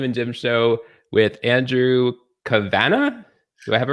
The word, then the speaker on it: Kavanagh: But when I went to visit Killarney in Ireland, they corrected me and says you would pronounce it Kavanagh.